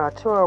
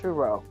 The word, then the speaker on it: Arturo: he's a historian when Arturo was uro okay my bad y'all I pronounced it wrong in the beginning it's uro when our Touro was